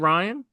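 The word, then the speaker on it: Ryne: You know how he spelled Ryan with an I? No. E isn't an E. It's R Y N E. It's like it's one syllable.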